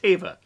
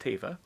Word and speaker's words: Teva: that my character Carson Teva and it is pronounced Teva it has been established it's pronounced Teva um in episode 12 entitled The Passenger uh